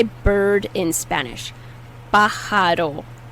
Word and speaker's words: pájaro: Pájaro, pájaro. The J is pronounced like an H.